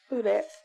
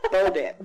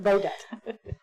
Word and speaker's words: Bodette: Miss Budette, I'm not pronouncing your name correctly. It's Bodat, but it's Bodette. No, I'm good. Thank you. Every time I say it, I feel weird. It's okay. Bodette. Bow debt.